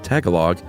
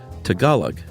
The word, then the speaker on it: Tagalog: Chuck said Tagalog. It's actually Tagalog.